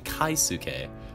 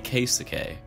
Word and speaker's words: Keisuke: and stuff, was that I was pronouncing Keisuke's name wrong. I kept saying Kaisuke, thinking like, you know, K-A-I Kai, knowing people like that in real life. So from now on, it's going to be Keisuke.